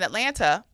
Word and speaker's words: Atlanta: So, and when you narrow it down to being in Atlanta, I say Atlanta because I say all the syllables, but when I'm at home, it's Atlanta. Atlanta.